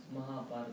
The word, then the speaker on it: Mahabharata: Yeah, can you pronounce that for me? Mahabharata.